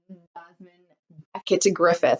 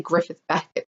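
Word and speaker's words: Jasmine Becket-Griffith: Now this I find a little bit more adult looking than, say, the Jasmine, I always say her name wrong. Hold on. Jasmine Beckett Griffith. I always say Griffith Beckett for some reason.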